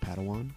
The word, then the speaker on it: padawan: a pad one to this bold jedi it's pronounced padawan oh padawan excuse me hey it's getting late